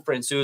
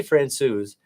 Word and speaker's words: Francouz: Also, I've noticed I say Francouz, you say Francouz. Jared Bednar says Francouz. Yeah, I know. I said that, and I was like, I thought we already settled on a soft C there.